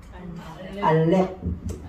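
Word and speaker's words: אלף: 근데 이렇게 발음하면 더 쉬워요. 요 피읍을 알렙, 그죠? 그러니까 이제 퍼 발음은 약하게 나가는 거지. 이렇게 알렙 이렇게 되는 거죠.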